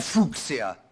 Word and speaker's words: fuchsia: He's holding a fuchsia flower, or as the English politely say, in case you get the pronunciation a bit awkward, they say fuchsia.